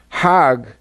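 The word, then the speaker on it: حج: Now, Hajj is a pilgrim to Mecca. Hag is the Egyptian pronunciation.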